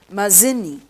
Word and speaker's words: Mazzini: was a very dangerous person that is guisip mazzini g i u s e p p e okay this is pronounced as guisette mazini m a z z i n i mazzini